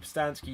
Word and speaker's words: Pustansky: Okay, so my name is Postansky. You can find me @Postansky, which is spelled PUSTANSKY, on Facebook, Instagram, and Twitter.